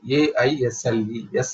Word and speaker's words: aisles: So inventory aisles means this aisle, A-I-S-L-E, S is silent, aisles.